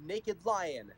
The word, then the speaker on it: NAK'Dlion: I play in a band called Naked Lion. That is spelled NAK'Dlion, where I sing, rap, and play the electric ukulele.